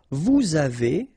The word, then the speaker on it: vous avez: the two, nous avons, vous avez, a Z at the end will produce this E sound, avez, little link between the two, vous avez, ils ont,